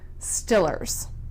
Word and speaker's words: Steelers: Stillers.